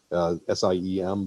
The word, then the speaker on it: SIEM: You can go to something more complex called a SIEM, SIEM, but the E is silent.